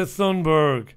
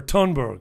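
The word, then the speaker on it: Thunberg: environmentalists apocalyptic guru Greta Sundberg or tunberg I think they say tunberg they don't pronounce the T hates a hearty tunberg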